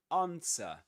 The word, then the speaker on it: answer: You don't pronounce the W, the W. Okay? Just like in sword. Just like in sword as we discussed before you don't say swore sword but sword this is answer that's in British English